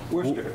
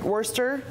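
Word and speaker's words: Worcester: at the how do you say it Worchester Worster Worster Worster Worster Telegram in Massachusetts Joe told Tom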